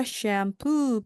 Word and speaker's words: shampoo: extra shampoo please. 이때 샴푸를요. 샴푸하고 뒷부분을 강하게 해주시면 되겠습니다.